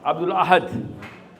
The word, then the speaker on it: Abdul Ahad: Ahad is the key word here. Huh? Say it properly. Abdul Ahad.